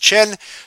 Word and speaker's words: Qin: by the Qin Dynasty even though it says qi n it's pronounced chin that's the kind of